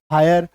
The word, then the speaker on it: hire: ठीक है, तो HIRE, हायर, आकार की मात्रा य।